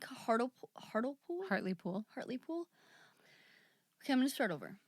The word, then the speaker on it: Hartlepool: halfway through the day england how do you pronounce it again hartley pool hartley pool so directly next to heart heartile